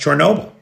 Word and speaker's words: Chernobyl: And for anybody who thinks I'm saying Chernobyl weird, it's just like Kyiv and Kiev. I have adjusted myself to the Ukrainian pronunciation of Chernobyl.